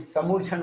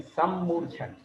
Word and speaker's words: सम्मूर्छन: हम लोग उच्चारण में क्या करते? समूर्छन बोलते, समूर्छन, समूर्छन नहीं है, सम्मूर्छन, आधे माँ को छोड़ देते, सम्मूर्छन। यही विशेषता है हमारे पढ़ाने में, समझाने में, कि हमारा उच्चारण कहीं मिस ना हो।